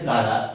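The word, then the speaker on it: Chara: है कारा क्या है कारा स्पेलिंग होता है सी ए आ चारा लेकिन पढ़ते क्या है कारा ठीक है एक एक्सेप्शन है कारा और कारा का जो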